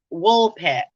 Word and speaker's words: Woolpit: up too it's like is it wolf pip the green children yeah wool pit not wolf excuse me wool pit um yeah check that out green children of wool pit sound spell it how it sounds w-o-o-l-p-i-t and the legend